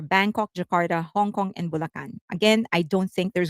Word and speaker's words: Bulacan: Bulacan. That's how we pronounce it in the Philippines.